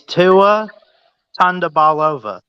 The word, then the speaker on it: Tagovailoa: Hey, now you got if you're gonna pronounce his name, pronounce it right. What? Yeah, it's Tua it's Tua Tagovailoa.